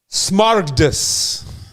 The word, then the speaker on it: smaragdus: I just have to make sure it's on wax in this because, see, if you understand, let me pronounce the word correctly. Smaragdus.